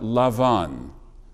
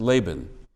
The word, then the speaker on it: Laban: in the haggadah about lavan whose name in english is generally pronounced laban the father-in-law of our